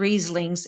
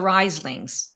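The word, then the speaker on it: Rhyslings: It's not the Rieslings, it's the Rieslings.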